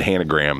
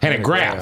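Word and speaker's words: Hanegraaff: You accidentally said Hanegram. That's funny. What is it? Hanegram. Graph. Hanegraph.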